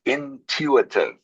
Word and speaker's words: intuitive: The word is intuitive. Can you say that? No. Intuitive. Intuitive. Intuitive. Can you say that please? Intuitive. Okay. So, you pronounce both the U and the I.